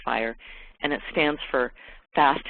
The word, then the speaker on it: FHIR: rated API that's called fire so fhir is pronounced fire and it stands for fast healthc care interoperability